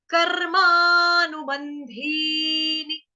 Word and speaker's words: कर्मानुबंधीनि: कर्म, लेकिन कर्म यहाँ पे नहीं है, यहाँ पे क्या है, कर्मा, कर्मा, कर्मानुबंधीनि, कर्मानुबंधीनि।